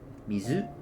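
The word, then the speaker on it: 水: Okay, kyomi or Japanese reading is the way to pronounce kanji when they stand on their own. Mizu. So when you see uh yeah coi for water is mizu. So when you see the kanji mizu standing by itself you read as mizu.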